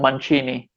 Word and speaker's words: Mancini: a something made of my last name on manchini ah so like the the machinist thing i